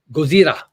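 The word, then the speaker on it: ゴジラ: But Gozira is how they say it in Japan.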